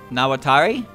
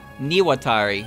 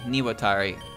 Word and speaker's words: Niwatari: name uh now uh nawatari i think it was niwatari niwatari okay niwotari kutaka i